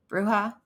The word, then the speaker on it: bruja: Your bucha, um, the Spanish word for witch, and I feel like the J should be an H, so it's probably bruja, maybe. These would have been in,